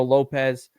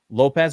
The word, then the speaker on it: Lopes: distance they think it's Lopez or Lopes as I actually think it's pronounced with this fellow um